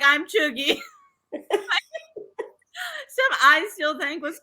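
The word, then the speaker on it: chuegy: Pronounced chuggy.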